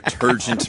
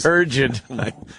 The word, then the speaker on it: turgid: Your turgent man hose. Turgid. Turgid, sorry. Yes. Turgid, right. Well, I only learned that word recently from Jim Norton. I got to say it properly.